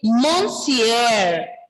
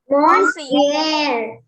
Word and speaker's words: monsieur: Ending letter R will be silent. It's not actually fully silent. It is partially pronounced. R is partially pronounced. Repeat after me. Monsieur. Monsieur.